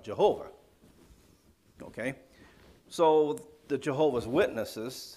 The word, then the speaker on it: Jehovah: have been yahweh but when you put it this way you should pronounce it with the english pronunciation it comes out jehovah okay so the jehovah's